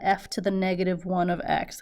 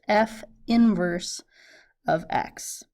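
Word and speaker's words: f⁻¹(x): However, we pronounce it as f inverse of x. Okay, don't call that f to the negative 1 of x. That's f inverse of x.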